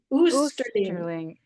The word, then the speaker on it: Osterling: And the character, Osterling, I'm pronouncing that right? Oosterling.